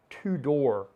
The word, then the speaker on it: Tudor: And in the early days, Tudor was, and it's spelled Tudor. It may sound like I'm saying Tudor, but I'm saying Tudor, like two doors.